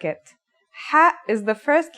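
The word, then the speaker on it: حاء: According to phonetic charts, ha is pronounced in a deeper part of the throat than kha.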